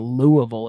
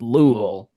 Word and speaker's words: Louisville: Louisville, you know, in the South, it's not Louisville, it's Louisville.